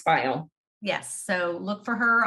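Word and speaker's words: Pfeil: dawn's last name is spelled p-f-e-i-l and it's pronounced file yes so look for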